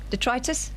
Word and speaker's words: detritus: Detritus? How do you say it? Detritus, mate. That's how you say it.